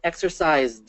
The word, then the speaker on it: exercised: e so actually it it's exercised it has a d ending and there's no there's